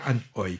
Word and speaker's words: Anhui: C'était la rétrospective d'une réalisatrice chinoise qui s'appelle Han Hoi. Ouais. Et ça s'écrit Anhui. On a appris que ça se disait Han Hoi.